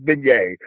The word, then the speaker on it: beignet: Kitchen Killer with Kamilla, where you had a beignet. Which that's how it's pronounced for the record, it's beignet.